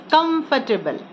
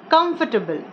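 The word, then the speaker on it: comfortable: शब्द way bill सी कंफर्टेबल okay मैंने इसको बोलते सुना है कांफरटेबल नो it's note correct way तू प्रोनाउंस दिस शब्द एक्चुअली कॉमिफर्टेबल दिस बेड कंफर्टेबल अच्छा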